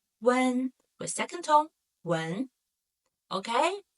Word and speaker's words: wén: So, n, a, n, when, with second tone, when.